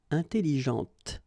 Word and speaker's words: intelligente: with an adjective, okay, intelligente. Same thing here. When you put this well, actually you will pronounce the final T, okay, but you don't pronounce this here.